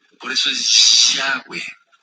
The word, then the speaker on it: Yahweh: Nunca sonará como Jehová, jamás, es una blasfemia. Busca en internet, Jehová quiere decir el destructor, búscalo. No me creas a mí, búscalo. A ver si, y no se dice Jehová, no es una Het, es una Yud. Yud, He, Vav, He, que no se pronuncia. No digas Jehová porque es una aberración.